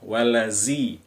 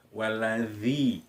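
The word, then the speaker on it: والذي: Kemudian walladzi dza di ujung lidah, dza bukan za, walazi, waladzi.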